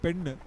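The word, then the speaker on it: பெண்: Of course, in Tamil, girl is called Pen, and the gold is called Pon. Yeah, that's a slight differentiation, but you'll have to be very careful in pronouncing those words.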